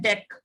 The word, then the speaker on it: deque: ठीक है, इसको प्रोनाउंस करते हैं डेक और DQ। डेक बोल दो और DQ बोल दो, वन एट the same thing.